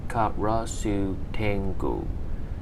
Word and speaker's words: Karasu-tengu: yokai number one karasu tengu pronunciation ka rasu tengo english name raven tangu gender